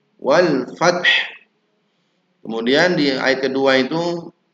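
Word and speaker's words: والفتح: Sekarang wal fat. Nah fat saja padahal ada huruf ha di situ. Wal fath.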